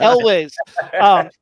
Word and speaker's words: Elwes: You pronounced his name correctly. I will not. Carrie Elwes. How do you say it? Elwes.